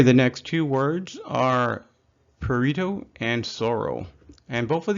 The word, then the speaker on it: prurito: But with prurito, you try to pronounce the PR, prurito.